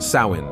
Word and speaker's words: Samhain: Trace back to the ancient Celtic Festival called Sam hay pronounced Sinn celebrated on October 31st the Kelts lived in